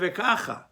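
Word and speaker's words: וככה: So, for example, on the word Vekacha, the pronunciation, the way I said it, is on the first syllable. But if you look in the Tikkun, you look in the Te'amim, the Zarka that's on that word is on the last syllable, always that way. But you don't read the word Vekacha with emphasis on the last syllable, you read it Vekacha.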